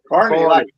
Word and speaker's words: Carney: Was it Carney? Carney. Carney, like a carnival.